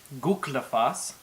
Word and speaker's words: Gullfoss: for you to at least know how they're pronounced before going. Some of the most common places you'll want to visit are Seljalandsfoss, Gullfoss, Reykjavik, Vik, probably one of the harder ones to say, Jökulsárlón.